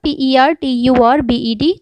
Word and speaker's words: perturbed: आया था इसमें आपका PERTURBED, तो उसका जो सही प्रोनाउंसिएशन है, उच्चारण है, वो इस तरीके से है perturbed।